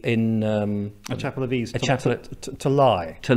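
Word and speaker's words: Leigh: chapel in Lee, a chapel of ease, to lie. To lie, yes, which is spelt Lee, pronounced lie.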